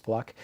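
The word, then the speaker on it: Fluke: Sandra fluck spelled f l u ke but pronounced fluck um and Her speech last week uh to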